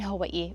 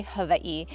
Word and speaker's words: Hawaii: And I was actually born in Hawaii, or if you pronounce it properly, Hawaii.